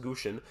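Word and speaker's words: Gushchin: Boucher and Gushin, that's how it's getting pronounced, Gushin, have not been cutting it.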